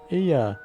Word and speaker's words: Ea: our thoughts and intention Aya I believe was the pronunciation used when referring to our people though it is not